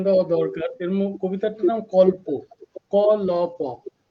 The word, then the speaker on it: কল্প: কবিতাটার নাম কল্প, ক ল প, কল্প কাহিনীর যে কল্প, সেই কল্প উচ্চারণে, কিন্তু অর্থে নয়।